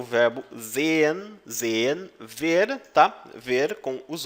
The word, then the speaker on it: sehen: Ver com os olhos, sehen. Na pessoa eu, tá? Não se esqueça de que a letra S no alemão tem som de Z e o H ele é absorvido.